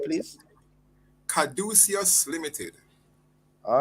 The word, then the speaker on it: Caduceus: Could you pronounce that name, please? Caduceus Limited. All right, Caduceus, and that's what takes place there?